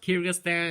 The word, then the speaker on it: Kyrgyzstan: no sense of a bunch of letters is pronounced Kyrgyzstan if you don't know and finally this country